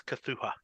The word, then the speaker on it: Cthulhu: pronounce this properly. I went to HP Lovecraft expert. It's Cthulhu.